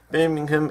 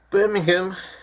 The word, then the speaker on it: Birmingham: Birmingham is Britain. Birmingham is in Alabama. Ham, not hum. Birmingham, hum. Spelled ham, but it's pronounced hum. When people say Birmingham, they mean West Midlands.